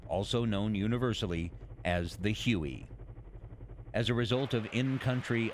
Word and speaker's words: Huey: The helicopter quickly developed a nickname derived from its designation of HU-1, which came to be pronounced as Huey.